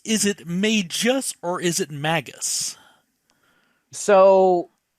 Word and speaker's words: Magus: is spelled m-a-g-u-s now what is the correct pronunciation is it Magus is it may just or is it magus so the majority of